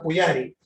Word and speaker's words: pujari: La persona que adora a la deidad al sacerdote se le conoce como Pujari. Ya sabemos, la J es un Y, entonces se escribe Pujari, pero se pronuncia Pujari.